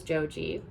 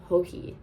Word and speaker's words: Joji: And I pronounced her name as Joji as I just did now. And someone kindly corrected me on TikTok that it was Hoi.